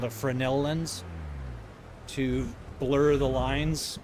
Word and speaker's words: Fresnel: Sometimes people mispronounce them as Fresnell or Fresnel. Fresno. Um, but it's Frenel, named after the I believe a French uh inventor, I believe.